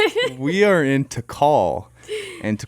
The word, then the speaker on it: Tikal: the same time we are in Guatemala specifically Tikal like Chad Chaz was mispronouncing it and he said he's all welcome to tickle we are in to call and to call as a National Park in